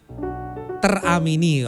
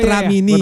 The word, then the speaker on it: Teramini: ada si Gea indrawat judul lagunya teramini harus dipisah ya tadi gua cebutnya tramini gitu gu kayak kayak aplikasi tramini tramini remini kalau di aplikasiini teramini ya teramini gua tadi bacanya Salah tuhini mungkin mungkin ee dengan